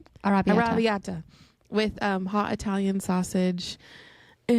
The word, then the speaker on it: arrabbiata: Arrabbiata. Arrabbiata with hot Italian sausage.